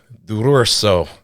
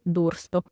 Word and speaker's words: D'Urso: today by Miss Dururso. Did I over-enunciate? Yes. Tell me the proper way to say it, because I knew I was going to butcher it. Oh, no, it's okay. It's Dursto.